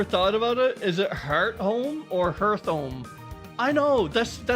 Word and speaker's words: Hearthome: It's pronounced like Hearthome. Okay, Hearth. I'm saying Hearth, but like Hearthome. Like start, but not Earth. So start, so Heart. It rhymes with start, so it's Hearthome.